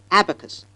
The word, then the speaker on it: abacus: No, it's not the way how it is pronounced, because the first syllable receives the stress and not the second. So the initial a must be long, and it is pronounced abacus.